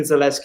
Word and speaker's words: Zalewski: Zalewski, is it how you pronounce it?